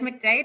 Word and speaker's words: McDade: everyone yes i'm jade mcdade my last name does rhyme with my first and um i'm the